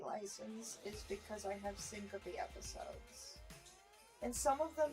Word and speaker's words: syncope: I've always been told that it's pronounced syncope. I might honestly be pronouncing it wrong, but that's the way that I've been told, and that's the way that my doctors have pronounced it before, so.